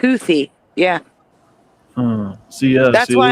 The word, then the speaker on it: Houthi: But they're both pronounced. They're both pronounced Hootie, though, right? Like without the H sound. No, Really? it's pronounced Houthi.